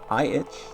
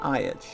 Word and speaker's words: itch.io: iitch? That's how you say it? No, it's not iitch.